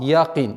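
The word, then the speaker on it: يقين: И мы, распространенная ошибка совершается, звук «я» произносится с отголоском «а», «якин». Нет, нужно обращать внимание, чтобы она оставалась мягким звуком «якин».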